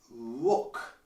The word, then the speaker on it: rook: Rook. Rock is a rock. Rook is a rock, so it sounds a bit the same, but it's pronounced differently. Rook.